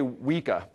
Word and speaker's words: Weka: zealand or australia here how would you pronounce it sir i can't repeat it i mean because he did it right we say wicca okay but it's some